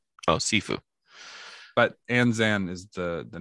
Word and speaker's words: Anzan: character's name uh Shifu enzam Shifu it's it's pronounced sifu oh sifu but anzan is the the name it means a large